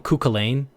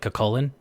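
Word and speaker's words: Cú Chulainn: cakan or I mean they call him culain but his name is supposed to be pronounced like cakan the Irish hero himself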